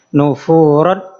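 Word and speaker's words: نفورا: Maka biar mudah, tanwinnya ini dihilangkan. Tanwinnya dihilangkan jadinya nufuro.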